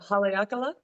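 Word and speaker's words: Haleakalā: that hike with you AB I went to halaka I say that wrong yeah you said it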